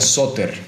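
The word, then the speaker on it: σωτήρ: y esta palabra salvador viene de una voz griega que se pronuncia suter que significa vino para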